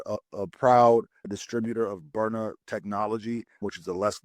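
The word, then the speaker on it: Byrna: We're a a proud distributor of Burner Technology, which is a less lethal option for firearms.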